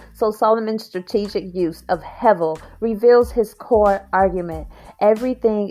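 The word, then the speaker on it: הבל: It's spelled Hebel, pronounced hevel, which loosely translates as a vapor or breath.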